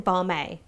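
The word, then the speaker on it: BAME: using the acronym b-a-m-e which i've been pronouncing barmay all this time it's a bit more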